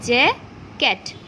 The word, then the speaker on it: jacket: Okay, so what will be the pronunciation? Jacket. JAC টা silent, KET কি হবে? Jacket.